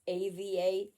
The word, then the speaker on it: Eva: So, yes, some people try to have it that it's AVA. It's not. It's EVA, but pronounced Ava. Or if you're German or Dutch or from the Netherlands or from Denmark or whatever, Ava.